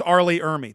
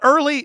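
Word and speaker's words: R. Lee Ermey: It's Arlie Ermy. That's what I said. Arlie Ermy. Not Arlie. No, not Early.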